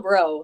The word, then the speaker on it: Braud: on yeah it's bro so uh my dad is from Baton Rouge Louisiana and the AUD is another version of the eaux so it is you don't pronounce the d and it's like you